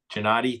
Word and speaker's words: Janady: Item uh number three, application receipt PL25-5, request of Gregory and Mary Lou Janady. Did I pronounce that correctly? You did.